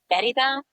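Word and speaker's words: Mérida: Merida. Merida. It's a capital of the Yucatan. Can you spell that for me?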